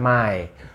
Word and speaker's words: Mai: gampang kan nah cuacanya May bukan Mei tapi kalau di Indonesiakan Mei kalau sejak di Jerman Mai Udah sisanya Yuni bukan